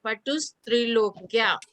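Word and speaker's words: पटुस्त्रिलोक्याः: और इसको है ना आधा सा लेना है, पटुस त्रिलोक्या। अच्छा पटुस त्रिलोक्या, है ना, आधा सा का पटुस उच्चारण आना चाहिए।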